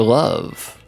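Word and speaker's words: Luvv: Love, but it's spelled L U VV. It confuses people with the the French landmarks cuz they mispronounce it as Louv. It's It's love.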